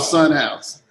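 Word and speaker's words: Sunhaus: It's called Sunhouse, actually. Sunhouse? Sunhouse, yeah. Crazy. But it's spelled like Bauhaus, like S U N H A U S.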